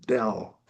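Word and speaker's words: བདེ: This first letter where my cursor is is da. Next to it is is another letter la. Um the law um the the main letter pronounced is the da and the law makes the a sound turn into a. So it becomes pronounced dell.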